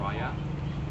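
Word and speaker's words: Raya: e o f f the last name is r a y a Rya I am a chief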